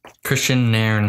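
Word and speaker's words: Kristian Nairn: It is Christian Nairn.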